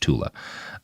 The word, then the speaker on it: Thule: He named the mystical Aryan homeland Tula, or it's spelled Thule, and it's usually said Thule. I think it's actually supposed to be pronounced Tula.